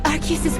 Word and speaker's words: Arceus: There are over a dozen ways individuals pronounce its divine name. Spelled A-R-C-E-U-S, Arceus, Arceus, Arceus, Arceus, Arceus, Arceus, Arceus, Arceus, Arceus, even Arceus, and on and on.